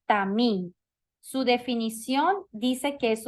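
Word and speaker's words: תמים: Perfecto es una persona sin defecto y se pronuncia tamín su definición dice que es una persona íntegra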